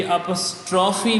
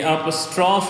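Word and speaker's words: apostrophe: बेटे ये अपॉस्ट्रोफी नहीं है। ये एपॉस्ट्रोफ है। क्योंकि इंग्लिश के अंदर जो लास्ट सेलेबल होता है that is not count. That is not being pronounced. तो उसको प्रोनाउंस नहीं किया जाता।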